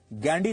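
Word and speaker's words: Gandhy: अंग्रेजी में वो गांधी नहीं गैंडी लिखते थे जिसकी स्पेलिंग है जी एच ए एन डी वाई गैंडी Firoz गांधी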